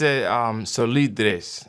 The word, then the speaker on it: Solidres: So this is a Spanish word. I went on this website just to see how to make sure that I'm saying it right for our Spanish students out there. So it's Solidres.